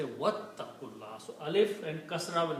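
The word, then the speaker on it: وَاتَّقُوا اللَّهَ: But, when you recite with wow together, then you don't pronounce the alif.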